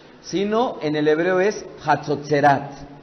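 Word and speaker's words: חצוצרות: no es shofar sino en el hebreo es hatsutzerat pronuncian conmigo hatsud instrumento de viento Que el Eterno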